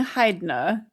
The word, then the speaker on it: Hydna: I was saying Hydna. I mean, like, kind of like Hydra, but like Hilda at the same time. Yeah, Hydra, but with an N instead of an R.